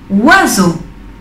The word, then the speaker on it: oiseau: La O y la I es el sonido wa. Oiseau.